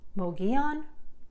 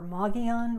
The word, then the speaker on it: Mogollon: is pronounced ala Tookie this popular spot in the high country is actually pronounced a few different ways by people in Arizona Mogi on or Mogollon Rim and this town where